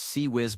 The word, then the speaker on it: CIWS: The ships activate their close-in weapon systems, the CIWS, pronounced CE whiz by everyone who doesn't want to sound ridiculous. These are basically R2-D2 looking robots with 20 mm Gatling guns that fire 4,500 rounds per minute.